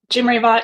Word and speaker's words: Jimreivat: Um, Jim Reva is a Thai last name and um, I am half Thai and I do not speak Thai, so I actually pronounce my name like a white person and it's very embarrassing for my grandparents.